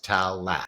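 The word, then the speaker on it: Taalas: Phonetically, that's Talat, a startup out of Toronto.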